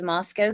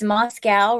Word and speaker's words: Moscow: deep in this case he can't even pronounce Moscow correctly tisk tisk it's Moscow right people from Idaho say it that way no it's Moscow a Glock revolver huh please